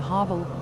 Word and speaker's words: Havel: The Havel, or what Germans pronounce Havel, is a river in northeastern Germany that flows through the states of Mecklenburg-Vorpommern, Brandenburg, Berlin, and Saxony-Anhalt.